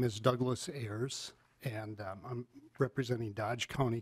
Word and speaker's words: Ayers: Please state the correct pronunciation of your name and then proceed with your testimony. My name is Douglas Ayers, and I'm representing Dodge County Concerned Citizens, and I speak in favor of this bill.